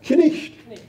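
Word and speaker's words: knight: How is that pronounced in Middle English? Yeah, knicht. Just the way it's spelled.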